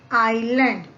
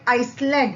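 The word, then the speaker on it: island: इसे हम students we कैन not read this like आइसलैंड। हम इसे आइसलैंड नहीं पढ़ सकते। यहां पर हम आई एस को साइलेंट पढ़ेंगे। एंड हाउ we will read it? आइलैंड।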